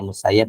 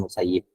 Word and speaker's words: Musayyab: Sebagian ahli hadis membacanya Musayyab, ada yang mengatakan Musayyib. Anna Rasulullah Shallallahu Alaihi Wasallam naha an bai'il muzabanah dan muhaqalah.